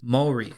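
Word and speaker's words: 森: the Japanese word for forest and that is Mori Mori is spelled m o r i and Mory is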